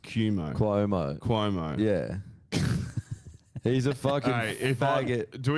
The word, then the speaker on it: Cuomo: something like that and it's spel and it's pronounced cumo Cuomo Cuomo yeah he's a do